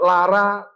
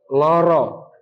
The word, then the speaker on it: loro: merumuskan bahasa Jawa itu bunyinya antara a dengan o itulah bahasa Jawa baru yang dikreasi Sultan Agung ada tiga tingkatan kromo Madyo ngoko dan semuanya kemudian ngeleg tapi sego bukan Lara tapi loro bukan teka tapi teko karena Sultan Agung seneng Jadi